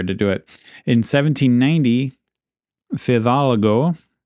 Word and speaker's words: Fidalgo: In 1790, Fidalgo, am I pronouncing that right? I have a couple different spellings in my notes. Fidalgo. I think that's it, Fidalgo. Fidalgo arrived in Alaska, and he explored around the areas of Cordova.